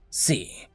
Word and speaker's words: C: You said that Steve liked to program in a language called C. Well, that's pronounced the same, even if it's not spelt the same.